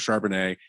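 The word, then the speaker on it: Charbonnet: in the backfield with sharpenet you have a really good offensive line well that's how you say his name yeah it's like a wine yeah well I know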